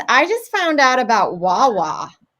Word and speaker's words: Wawa: And then also, guys, I just found out about Wawa. Is that how you say it? Yeah, you're doing good.